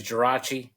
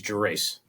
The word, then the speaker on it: Gerace: Well, the Italian way is Gerace. The American way is Gerace.